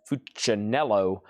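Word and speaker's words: Funicello: That's Annette Fuanello. That's kind of how you say her name.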